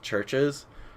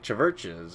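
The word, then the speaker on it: CHVRCHES: I thought it was like Chiverches or Chiverge. Anyway, I pronounced that band's name for a really long time incorrectly until I saw them live, and they're like Churches, and I was like, oh yeah, that makes a lot of sense. That's how this name is pronounced.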